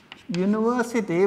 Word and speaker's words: university: u sound like university university when we pronounce it we first say yi sound university so we use it